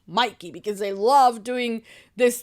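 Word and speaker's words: Mickey: what's his name um Mikey not McKey Mikey because they love doing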